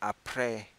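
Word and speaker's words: après: clock say - no laws a repete repete I pray Pierre alright I pray means after a PR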